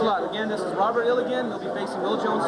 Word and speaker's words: Illgen: Robert Illigan, go ahead. You don't face me. Robert, what's the correct pronunciation? Illgen.